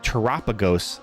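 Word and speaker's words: Terapagos: Terrapeagos. Um, but I think it's I think it's Teropagos cuz it kind of rhymes with uh Galapagos, like the Galopagos Islands.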